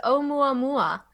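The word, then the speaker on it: ʻOumuamua: didn't say the name it's omua mua which i took time to learn how to pronounce uh but it is from the native hawaiian language and it means first messenger arriving from afar a scout that's a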